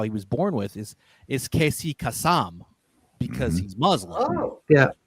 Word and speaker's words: Casey Kasem: Like for example, the way that he pronounces his name during his lifetime, right? For the entertainment industry, is Casey Kasem, right?